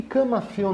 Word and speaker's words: camafeu: E por que camafeu não tem acento? Camafeu é ditongo tônico no eu, pela pronúncia. Repara que ela é aberta e não fechada.